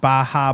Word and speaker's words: Baja: Viewers that were like messaging me and they were like, oh, here, it's pronounced Baja, but obviously you would know that and all.